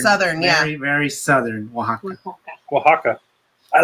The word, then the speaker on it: Oaxaca: general the whole the all the letters have a completely different pronunciation in spanish remember this is a harder word this is the okay so i said aloxica okay and he said